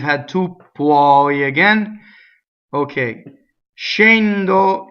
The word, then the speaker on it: scendo: Scendo, scendere. This is all closed. It's not shen.